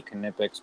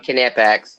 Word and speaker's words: Knipex: I still have never used a Knipex plier.